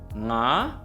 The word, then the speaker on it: nga: For example: nga, nge, ngi, ngo, ngu. It sounds a little bit like 'nah, neh, nee, no, nu' but there's that sort of distinct 'ng' sound and that can be